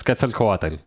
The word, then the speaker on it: Quetzalcoatl: Quetzalcoatl. Or maybe it's Qual. Oh wait, hang on. Wait, pronunciation guide.